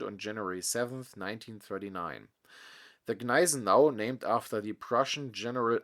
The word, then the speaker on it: Gneisenau: should therefore be pronounced Nizenau. Even in debates with Germans, this theory is sometimes stubbornly maintained. Apart from a few H letters, there are actually no silent consonants in the German language, as for example in